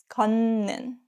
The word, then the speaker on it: 걷는: If a syllable ends with a T sound, like 디귿, 티읕, 시옷, and more, and the next syllable starts with 니은 or 미음, the T turns into N sound. 걷는 becomes 걷는.